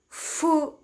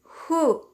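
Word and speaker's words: ふ: the japanese so instead of foo is who like fuji fuji not fuji remember no f sound in japanese let's proceed to the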